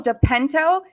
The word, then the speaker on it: De Pinto: my co-pilot today joe depento deep deep how do you how do you say that last name you got it dipinto well joe was born